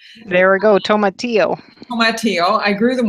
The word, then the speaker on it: tomatillo: haven't actually grown in the garden so properly pronounced tomatillo there we go tomatillo my tio I grew them one year because